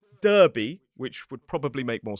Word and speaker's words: Derby: And also with Derby, it is D-E-R-B-Y. It is not Derby, which would probably make more sense.